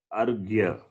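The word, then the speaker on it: arghya: It is pronounced as argya. Argya. Okay. Okay. It is not the other way.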